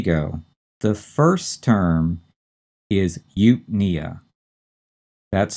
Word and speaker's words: eupnea: And notice the stress is on the second syllable, and it's on the knee in nea. And that's the way most of these words are pronounced, although there are a couple of exceptions. So it's eupnea. We put the stress on the second syllable, knee, eupnea.